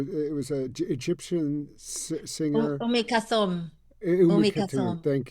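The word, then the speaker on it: Umm Kulthum: We were on, driving in this big sun, and I'm gonna mispronounce her name, but Khatum Alum, or it was a Egyptian singer. Umi Kathum.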